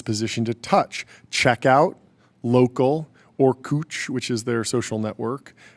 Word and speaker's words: Orkut: ORKUT, which I think was a Brazilian company that they acquired, which I believe it's pronounced Orkut or something like that.